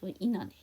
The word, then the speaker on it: internet: 그래서 T 발음을 안 해서 인터넷 이렇게 하는 거죠. 그럼 이 문장 제가 천천히 다시 한번 해보면 How much for an hour of internet 이렇게 되겠죠.